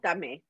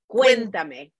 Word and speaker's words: Cuéntame: Cuéntame. Cuéntame. Cuéntame. Cuéntame. So okay. Like cuentos are stories and me is me.